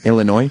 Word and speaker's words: Illinois: Illinois. Oh, okay. Yeah. It's you know what it is? It's not pronouncing that S.